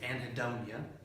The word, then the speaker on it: anhedonia: today that word is anhedonia I'm pronouncing the H so you know it's there anadonian interest loss of